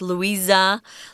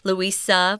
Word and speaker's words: Louisa: I wanted to mention you can pronounce this name Louisa with a sass sound or Z they're both correct Louisa Louisa both correct she traveled to Europe